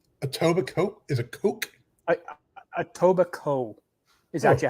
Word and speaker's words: Etobicoke: tobacco is a coke a tobacco is actually how they pronounce it they don't pronounce the k all right etobicoke ontario